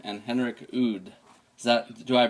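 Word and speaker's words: Henrik Udd: So whatever happens, Or the latest album is being produced by Frederick Nordstrom and Henrik Oud. Do I pronounce that right?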